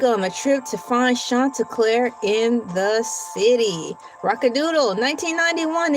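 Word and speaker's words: Chanticleer: You guys want to know how Shanta Clair's name is spelled?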